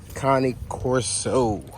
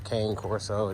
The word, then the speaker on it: Cane Corso: to talk to y'all about today is the Connie Coro um a lot of people call it the K Corso the Italian massive whatever you call it it's